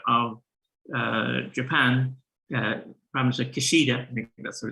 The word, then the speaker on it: Kishida: new prime minister of uh japan uh probably kishida that's what it's pronounced uh created the first minister for economic